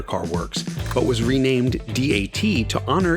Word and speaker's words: DAT: works but was renamed d-a-t to honor its three financial backers that in japanese would be pronounced datto which means with the